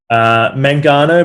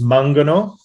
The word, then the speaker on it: Mangano: Mangano? Mangano, but in Italian it's Mangano.